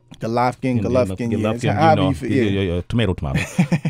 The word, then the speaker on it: Golovkin: Golovkin. That That's how you say it, right? Golovkin.